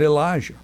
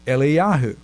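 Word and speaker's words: אליהו: Prophet Elijah in Israel his name is not Elijah in Hebrew it's eliahu but if you're talking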